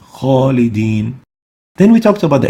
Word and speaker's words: خالدين: Kha is one of the خص ضغط قذ, the elevation letter, and that's why it should be pronounced with tafkheem. خالدين.